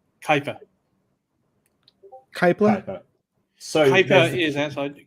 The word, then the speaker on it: Kuiper: Kuiper. Kuiper? So Kuiper is outside. Kepler is one that actually discovered how did I pronounce it?